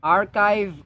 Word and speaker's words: archive: sounding slightly truculent truculent archive archive so ch is pronounced as k as in monarchy monarchy this one is